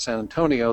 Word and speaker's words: San Antonio: Houston San Anton now you can tell somebody from Texas because when they talk about San Antonio they pronounce it San Anton so anyway you guys